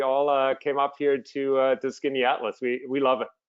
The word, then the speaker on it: Skaneateles: And Skinny Atlas looks like it would be spelled SKINNY Atlas, and it's not.